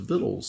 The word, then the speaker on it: victuals: Southern Israel vittles is spelled v-i-c-t-u-a-l-s but it's pronounced of vittles so sit down and have some vittles with